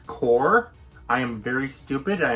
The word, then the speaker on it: Corps: problem in that video i pronounce this word as corpse it is not corpse it is core i am very stupid